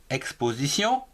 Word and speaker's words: exposition: Exposition EXX PO po SIZ TION Sion. L'exposition en 4 syllabes. Ou ici, TION se prononce Sion.